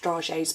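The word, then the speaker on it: dragées: They are pronounced Dragees but spelt Dragees, D-R-A-G-E-E-S, and they are expensive confectioner's chocolates, but they are beautiful.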